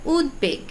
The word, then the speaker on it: উদ্বেগ: এর উচ্চারণটা দুইবার হচ্ছে আবার উদ্বেগ এখানে কিন্তু আবার ঠিকই ব ফলা উচ্চারিত হচ্ছে আবার সবাই এখানেও